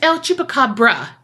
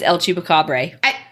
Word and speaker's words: El Chupacabra: It's El Chupacabra. Okay. It's always El Chupacabra.